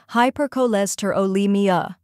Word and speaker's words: hypercholesterolemia: The correct pronunciation is hypercholesterolemia. Let's break it. First part, hyper, like in hyperactive.